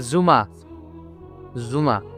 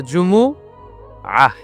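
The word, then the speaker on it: جمعة: জুমা অনেকে বলে ফেলে জুমা জুমা আসলে আরবিতে শুদ্ধ উচ্চারণটা হচ্ছে জুমু আহ সূরাতুল জুমু আহ এই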